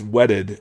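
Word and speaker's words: whetted: pronunciation of that so it's it's wedded as in a whetstone which is w-h-e-t i've heard that pronounced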